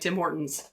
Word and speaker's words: Tim Hortons: He like emphasizes the T. Yeah, no, the emphasis is wrong. The emphasis is incorrect. On the wrong syllable.